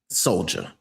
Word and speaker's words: Soljah: Soljah. Soldier is this person's name. I just wanted to, it's spelled right here on the paper in front of me, or not the paper, but the screen in front of me. It says Soljah. This man's name is Soldier.